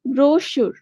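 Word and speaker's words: brochure: এটা তোমরা পড়ছিলা স্পেলিং ব্রশি অনেকে ব্রচ উচ্চারণ করে উচ্চারণ হচ্ছে ব্রশি মানে ছোট বই ছোট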